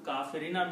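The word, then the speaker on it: كافرين: okay plural it is kafir runa but the effect of this refrigerant changes kafiruna to kaferina meaning is still same the disbelievers okay but by the rule of harfajar it's pronunciation changes to kaferina okay so it has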